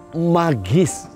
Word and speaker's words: magis: Magis, dibacanya magis.